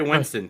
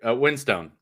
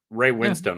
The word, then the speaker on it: Winstone: And Ray Winston too. Winstone. Ray Winstone.